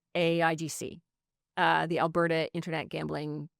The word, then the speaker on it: AIGC: They're then they have a similar model to Ontario where they have uh we don't say I go we say and we don't say it we spell it AIGC uh the Alberta Internet